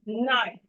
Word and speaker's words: knife: So we have it in words like knife, knife, knife. The K is silent here.